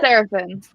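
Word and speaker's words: Serefin: And our enemy, enemy character, Seraphin. Is it Seraphin? Seraphin.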